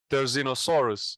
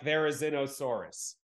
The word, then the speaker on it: Therizinosaurus: in Jurassic world Dominion the latest one uh terzynosaurus if I'm pronouncing it right yeah but you said I can say all right one right there there is no Soros like Therizinosaurus yeah so this is this animal had the